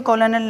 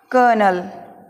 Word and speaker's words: Colonel: Next COLONEL, कॉलोनल, ये लिखा है, मीनिंग को देखते हुए कॉलोनल लग रहा है, लेकिन इसका उच्चारण होगा कर्नल।